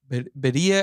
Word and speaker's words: birria: pronunciation, but pronounce the Beria. I've been told it's Beria. I've been told it's Beria. I don't know what is it. So you gotta get your R. Yeah, I definitely have to roll it.